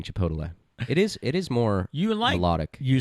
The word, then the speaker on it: Chipotle: A lot of people are saying it's Chipotle, not Chipotle. They're picking on you. Gail said, but I'm going with Pete's way of saying Chipotle.